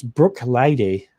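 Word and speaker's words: Bruichladdich: I'm on good authority to pronounce Brook Lady.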